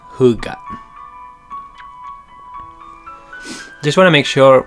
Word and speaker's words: Hygge: It's spelled Hygge, but it's pronounced Hygge.